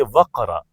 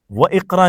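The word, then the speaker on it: واقرأ: आए तो नहीं बोलते जैसे इकरा तो इकरा से पहले मिसाल के तौर पे वाव आ जाए तो हम बोलेंगे वकरा वकरा व इकरा नहीं बोलते हमजा साइलेंट हो जाता है बीच में तो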